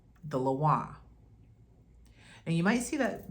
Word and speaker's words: lwa: you see the word laah and you might hear people say the laa that's not the cor correct pronunciation they're getting that from the spelling so you might see